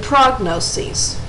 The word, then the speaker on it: prognoses: In the plural, the IS at the end is changed to ES, and they're pronounced diagnoses and prognoses.